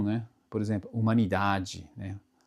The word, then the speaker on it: humanidade: A letra H em seguida, a letra H não tem muita complicação porque na verdade não tem som, né? Por exemplo, humanidade, né?